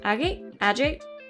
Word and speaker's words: agate: Agate?